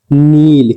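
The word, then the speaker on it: kneel: जैसे कि नील के के बाद एन आती है तो के हमेशा साइलेंट रहती है।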